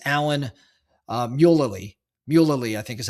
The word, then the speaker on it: Alan Mulally: And the Ford board brings in a gentleman named, I'm going to mispronounce his name. It's Alan Mulally. Mulally, I think is how you say his name.